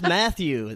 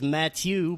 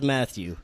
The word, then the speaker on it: Mathieu: It's just Mathieu. The French pronunciation is Mathieu, but everyone just says Mathieu.